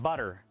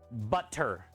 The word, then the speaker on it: butter: say peanut wait peanut butter butter peanut butter yeah you always say peanut butter almost like a d I never noticed that yeah almost like it's two D's not two T's peanut butter nobody really